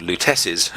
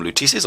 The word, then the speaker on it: Lutece: the idea that uh the lutesis i'm sorry i think in the first video i called them lutece's i've corrected my pronunciation the lieutenants have been